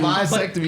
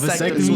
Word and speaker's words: vasectomy: Bisectomy is a fudge. You are a Negro. how you say it, bro? no It's with vasectomy.